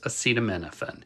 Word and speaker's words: acetaminophen: drug that Donald Trump so incompetently tried to pronounce is acetaminophen it's also called paracetamol in Europe and since